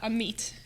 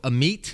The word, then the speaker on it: Amit: I would like to say my name's uh am me am me am me yeah wow well I'm sure you don't watch a show but we traditionally get names wrong so Amit no worries elore yes folks get it right